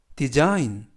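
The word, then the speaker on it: design: 단어에서 쓱 아이는 아이 그리고 쥐는 묵음 이구요 애는 느 그래서 b 쌓인 디자인 이라고 발음합니다 뜻은 설계하다 라는 뜻이구요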